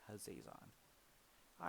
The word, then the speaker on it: Hazezon: on shaper of sand i usually like to say haze on but some people say haziz on either way no matter